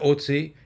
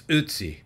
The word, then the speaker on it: Ötzi: I'm sure I'm still not pronouncing it properly, but it's not Ötzi, it's not Ötzi, it's Ötzi, or something quite like it.